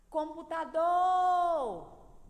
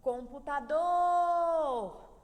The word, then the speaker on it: computador: tônica é o Lee tá computador computador do então odor é a sílaba tônica da palavra computador é a sílaba mais